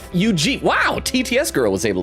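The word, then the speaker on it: Eugief: Theo says soft G and Ujeef. Ujeef. Wow, TTS girl was able to say it. Ujeef.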